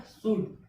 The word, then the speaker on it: should: ठीक, उसका शुड, SHOULD। यू के बाद क्या आ गया? एल आ गया। एल क्या हो गया? साइलेंट हो गया।